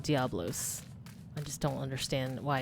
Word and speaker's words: Diabolos: I call it Diabolos, but I believe it's called Diablos.